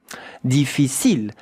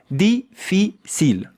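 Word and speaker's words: difficile: Defil deficil and the e at the end. You don't hear it like most of the words. Yeah. You know in French that ends with an e deficil. Look at how to pronounce it. Really easy. Defil. Three syllables.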